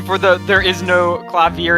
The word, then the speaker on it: Clavier: It was just like, I was like, I think it's pronounced Clavier. But okay. No, I looked it up. It's Clavier. Okay.